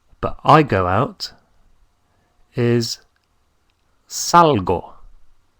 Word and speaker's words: salgo: is sal sal but I go out is salgo salgo s a l g o Salo so so